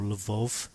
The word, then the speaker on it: Lvov: to the West Ukraine, places like Lviv or Lvov, it's pronounced differently according to whether you're Russian or Ukrainian.